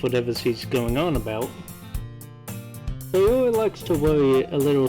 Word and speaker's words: Sayori: Instead of saying Sayori, I gave up repeatedly, even after being told how to pronounce it. And so for the next 6 hours, I just pronounced her name as celery.